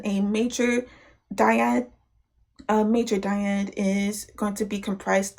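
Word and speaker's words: dyad: So looking at D major, uh just a uh just a diad. So a di means two. Uh it's spelled D I A D.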